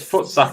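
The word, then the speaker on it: voetsek: She says footsack is how you would pronounce it.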